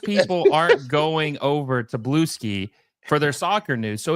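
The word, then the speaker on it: Bluesky: It's pronounced Blue Ski.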